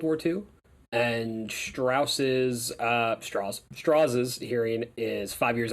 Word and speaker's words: Strauss: he pronounces it's spelled it's spelled Strauss but it's straws okay all right man